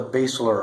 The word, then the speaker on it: basilar: looks like has legs that's called the basilar artery or some people could pronounce that basilar artery and then that basilar